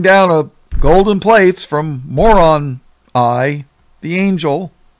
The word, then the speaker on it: Moroni: So, had to bring down a golden plates from Moron Eye, the angel. Well, they call him Moroni, but it's spelled M-O-R-O-N, I. Yeah. Moroni, Moron Eye.